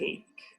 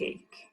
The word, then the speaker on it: ache: be unconscious an earring notice that the CH e way is pronounced like a cave earache a swollen ankle a back ache a stomach ache a pain in the